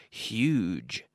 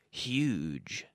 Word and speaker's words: huge: it's more common to say huge pronouncing the H huge huge very good and now